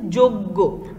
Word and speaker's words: যজ্ঞ: আবার এটা কি জয় ইয়, বর্গীয় অন্তস্থ জ আবার বর্গীয় জয় ইয়, বানানটা কেমন এটা, আর উচ্চারণটা হচ্ছে যোগ্য, যজ্ঞ নয় কিন্তু যোগ্য, এ কারণে এটা অন্তস্থ